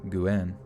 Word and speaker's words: Nguyen: You don't even pronounce the N. So it's Nguyen.